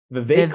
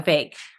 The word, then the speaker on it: Vivek: it for years, that Vivek Ramaswamy made was, say his name again for me. I can never. Vivek like cake. It's just like cake. It's just like cake. Yeah. Vivek.